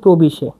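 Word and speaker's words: previše: দেখুন খুব বেশিকে বলা হচ্ছে প্রবিশে।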